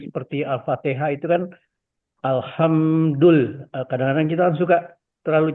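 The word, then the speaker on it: الحمد لله: Atau alhamdulillah kita baca. Alhamdulillah itu puja dan puji, puji-pujian. Tapi kalau kita bacanya pakai huruf kha, ada titiknya, alhamdulillah itu artinya adalah kutukan malah. Jadi lawannya kutukan. Malah kita mengutuk Allah jadinya.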